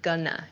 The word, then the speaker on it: gonna: Going to shortens to gonna, G-O-N-N-A, gonna. I'm gonna, I'm not gonna. This sounds much more natural, at least in American English.